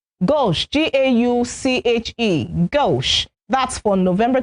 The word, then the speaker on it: gauche: November 20 is gauche. Gauche, G-A-U-C-H-E, gauche.